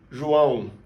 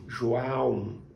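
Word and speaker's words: João: Have in mind, the sounds comes from your nose. If you pinch your nose when you say it, you're gonna feel it vibrating.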